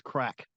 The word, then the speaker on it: craic: And it's called, they mention it in, Ireland, come here and practice crack, which is the name of the convention.